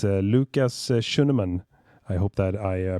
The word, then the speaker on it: Schuneman: stream joining us through voice chat it's Lucas shunan I hope that I pronounced that correctly and uh you you nailed